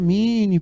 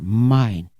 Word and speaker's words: Minnie: Aí os alunos aqui gostam de dizer a Minnie, professor. Muito bem. Vamos consertar essa pronúncia. Mine.